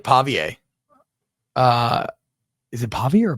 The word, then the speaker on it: Pavia: got me UNC pavier it's not Pavia pavier I can't tell if you're not really answering you're just saying it up again pavier that that's how you would pronounce it in the booth you would say pavier so it's not pavier